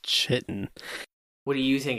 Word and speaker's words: chitin: It's not pronounced chitin.